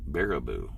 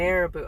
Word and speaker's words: Baraboo: G, it's pronounced Baraboo, Wisconsin. Baraboo.